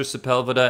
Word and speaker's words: Sepulveda: are always a cool sepulveda he's a you know anybody from Los Angeles knows how to pronounce my surname because one of the